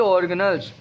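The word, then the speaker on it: organelle: लेकिन असल में ये लफ्ज़ है ऑर्गेनल। कौन सा लफ्ज़ है ये? ऑर्गेनल। तो ये आप गूगल से भी कंसल्ट कर सकते हैं। गूगल पे जो इसकी प्रोनाउंसिएशन है वो यही है, ऑर्गेनल्स। ऑर्गेनेली इसकी प्रोनाउंसिएशन नहीं है बच्चे।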